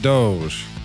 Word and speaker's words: DOGE: And to address some comments that I've received recently, yes, I know that they are pronouncing it Doge. But this is my show, and I'm going to pronounce it Dodge, because that's just easier to say.